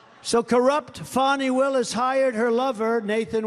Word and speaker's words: Fani: though it's I believe it's spelled f ni to my way of thinking that's Fanny but when she became the district attorney I think she put a little emphasis on the U fonnie so corrupt fonnie Willis